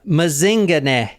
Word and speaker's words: Mazingane: Yeah, Mazingane. And that is how you say it too, because I actually heard someone in South Africa say it.